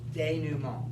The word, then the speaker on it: denouement: Denouement. Denouement, yes. Mont. Wait, how would you spell that?